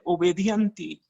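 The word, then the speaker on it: obedientia: Miren, esta palabra obediencia proviene tiene su raíz en el latín. No les voy a decir cómo se dice, pues casi prácticamente es lo mismo. Se dice obedienti. Obedienti es la palabra en latín y quiere decir que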